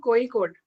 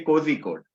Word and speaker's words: Kozhikode: pronunciation of your college it's iim coe code oa code so basically people say cozy code but it is wrong so the local as